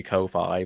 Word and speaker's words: Ko-fi: So I suppose if you take it know. on the principle of how lo-fi is pronounced, then it would be ko-fi.